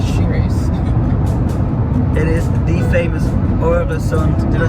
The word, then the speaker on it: Øresund: It is the famous Øresund, did I say it right?